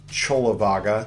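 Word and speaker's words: Cullavagga: So, if you want more Buddhist masturbation, you can click there for uh Chola Vaga spelled like Kula Vaga uh three part two.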